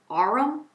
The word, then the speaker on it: Arum: Okay, and then the last row, starting with this shade, you have Brass, Sandstone, Alchemist, Teak, and Arum, that's how you say it.